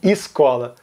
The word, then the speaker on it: escola: O primeiro é que todo mundo reduz o E para I e escola. Todos falam esquina e escola.